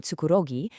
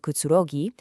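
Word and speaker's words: くつろぎ: So Biko tries to sound very adult and aloof by saying it's a place for relaxing, but she completely mispronounces the word, saying tsukurogi instead of kutsurogi, and she just gets ruthlessly mocked by the college boys at the next table.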